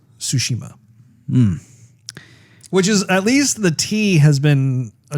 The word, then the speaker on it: Tsushima: When I've seen the reviews, the general consensus is it's pronounced Tsushima. Which is, at least the T has been addressed. You know, like the T is basically silent.